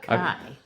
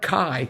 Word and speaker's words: chi: So Kai, right? X is Kai. Um Kai O omega like Right. Uh let's see. Is that uh that's Greek. Well, anyways, it was but but but it's not Kai.